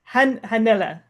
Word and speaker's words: Hannele: Hanella Hanella. If you put the H at the end of my name, then you probably say it right.